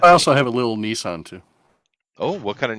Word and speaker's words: Nissan: those we call them nissans yeah we don't we don't say nissans we call them nissans oh because it's not not japanese pronoun no the japan the japanese pronunciation is nissan yeah nissan yeah it's